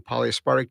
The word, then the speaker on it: polyaspartic: And the polyaspartic doesn't do that.